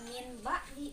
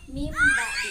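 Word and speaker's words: مِنْ بَعْدِ: Contohnya, min ba'di. Nah, dibacanya bukan min ba'di, tetapi dia dileburkan ke huruf ba, jadi dibacanya mim ba'di.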